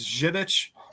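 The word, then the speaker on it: Żywiec: They got a great beer called uh It's Jivid. is how it's pronounced, but it's spelled like Zick, like Z Wii.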